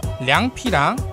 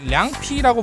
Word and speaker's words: 凉皮: 근데 저는 지금 계속 량피라고 부르고 있는데요. 메뉴판에 써져 있는 건 량필이라고 써져 있거든요. 이게 량피가 중국의 북방에서는 량필 이렇게 발음이 돼요.